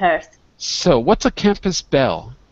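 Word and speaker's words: belle: So, what's a campus bell? What's a bell? It was spelled like that, B-E-L-L-E.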